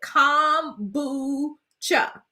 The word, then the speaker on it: kombucha: much oh okay so barbara told me how to pronounce it com boo-cha thank you thank